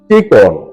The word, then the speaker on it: চিকন: সঠিক এবং শুদ্ধ উচ্চারণ চিকন। ত এর সাথে অকারান্ত উচ্চারণ করতে হয়।